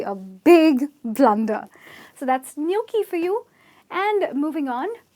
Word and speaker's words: gnocchi: and its pronounced as "Gnocchi " so the "G" here is silent and there is an invisible "Y" here which doesn’t appear in the spelling but definitely comes in the production its nyawk-kee ok and nyawk-kee it